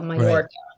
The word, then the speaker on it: Mallorca: So in the Spanish language, a double L is pronounced like a J. So Mallorca.